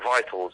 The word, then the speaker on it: victuals: Vitals, you know. It's spelt funny, isn't it?